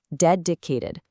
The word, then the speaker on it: dedicated: Stress is right on the first syllable. Dedicated.